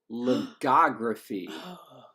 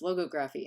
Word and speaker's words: logography: have just gone there we're doing it ligography thank you because that's how I used to always say it and then David was like no it's logography and now I like